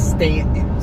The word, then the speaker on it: Staunton: It's Stanton. Stanton. Is that how you say it? Stanton. Stanton. Stanton. Yes. Yeah. Like New Stanton.